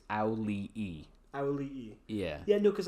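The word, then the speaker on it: Auliʻi: I looked up how to pronounce it. I'm fairly sure it's auli'i.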